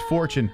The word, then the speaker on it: Fortune: fortune i remember we we've said this guy's name wrong so many times it's fortune but i call him fortune